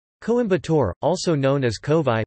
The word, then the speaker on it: Kovai: Coimbatore, also known as Kovai, pronounced Ko-aj, is a major city in the Indian state of Tamil Nadu.